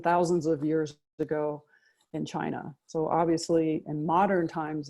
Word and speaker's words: Qi: thing is Chi and that spelled Qi but it's pronounced Chi that's the essential ingredient